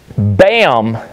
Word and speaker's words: BACM: BAM is a new company I found out about that is now 100% operational. They spell it BACM, that's the abbreviation, but the C is silent.